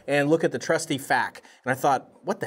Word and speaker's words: PHAK: It's definitely not FAAK, but I call it the FAC.